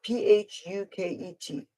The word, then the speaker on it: Phuket: another language there is a City in Thailand it's spelled p-h-u-k-e-t now I know this isn't the right way